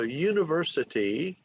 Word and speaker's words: university: So when we say university, so the 3rd syllable gets the stress.